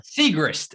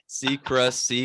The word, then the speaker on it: Siegrist: Segrist. That's how you say it. Segrist. Seacrest. Not Ryan Seacrest. All right. Not Ryan. She's not related to Ryan Seacrest. It's Segrist. Yeah, and I mean, Segrist